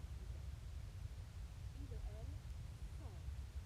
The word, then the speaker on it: sont: Il or elle, sont. My T is completely silent, and my N is nasal.